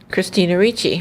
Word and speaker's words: Christina Ricci: Christina Ricci.